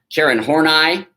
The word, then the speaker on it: Horney: Karen Horney, which is how you pronounce it, very brilliant.